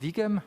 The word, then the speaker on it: VEGAM: don't know if it's is it pronounced vegam yeah it's vegan it's it's vegan it's an abbreviation for visions go embedded so vegan is